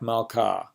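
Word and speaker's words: מלכה: Hey at the end of a word without the mappiq would be like malka, which happens to be the word for queen.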